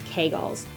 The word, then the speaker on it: Kegel: The first one, you have heard about them, maybe you've done them, Kegels, or some people pronounce it Kegels.